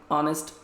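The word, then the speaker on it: honest: जैसे कि ही इज़ अ ऑनेस्ट बॉय, गलत है, ऑनेस्ट यहाँ पे वॉवेल साउंड है, एच है पर एच साइलेंट है, सो ही इज़ एन ऑनेस्ट बॉय, एन।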